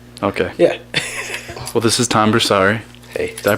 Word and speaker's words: Tom Borsari: make it pass okay yeah well this is tomber sorry Hey did I pronounce that right yeah okay Kirby is here